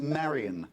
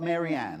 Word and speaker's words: Marian: Her name is Marian, not Maryanne.